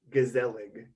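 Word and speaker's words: gezellig: pronunciation too like you're it sounds like you're like really hitting like those z's and like the yeah yeah yeah it's g-e-z e-l-l-i-g gazelling oh that's not even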